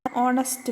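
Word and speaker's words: honest: Example: an hour, an ഓണസ്റ്റ് മാൻ, an honourable woman. ഇവിടെ H silent ആണ്.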